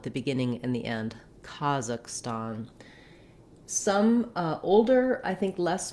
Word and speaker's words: Kazakhstan: First of all, in American English, we would pronounce this with first syllable stress.